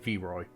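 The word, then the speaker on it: Vairoy: is his name was sorry how do you pronounce it v-ray v-a-i-r-o-y v-roy v-roy do you know much about this poison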